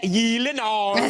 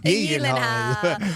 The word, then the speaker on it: Gyllenhaal: So shouldn't it be like Gyllenhaal? The only two places that is pronounced correctly, my last name, like you did just now, is in Sweden and in IKEA. So, yes, it's Gyllenhaal.